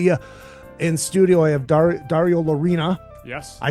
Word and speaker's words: Dario Lorina: In studio, I have Dario Lorina.